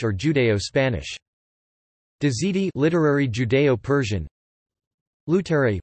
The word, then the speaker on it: Luterā'i: Lutari, pronounced Lutariae, a secret language combining an Aramaic and Hebrew vocabulary with Persian conjunctions and grammatical morphemes.